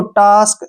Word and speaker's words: task: TASK, फिर से ए के बाद SK इकट्ठा आ गया, इसको टास्क, ऐसे पढ़ेंगे।